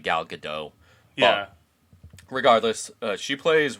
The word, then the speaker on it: Gal Gadot: by everybody pronounce like gal gadot but she's really not french it's gal gadot right no it's it's it's i think it's something like gal gadot yeah well the t is pronounced yeah but it's not